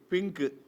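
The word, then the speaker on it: pink: இது சம்பந்தமா உதாரணமா பாத்தீங்கன்னா வச்சுக்கோங்களே இப்போ இந்த பாருங்க பிஐ என் கே பிங்க் பிஐ என் இயைன் பைனாப்பிள். ஐக்கும் அடுத்த எடுத்துக்கு அடுத்தடுத்து வந்தாதான் ஐ ஐயா சொல்லணும் இல்லை கேல வந்துருக்கு பிங்க் கலர் அப்ப என்ன பண்ணும் ஐய மாத்தி பின்னு சொல்லணும் பிங்க் ஆனா ஐக்கும் அடுத்த எழுத்துக்கு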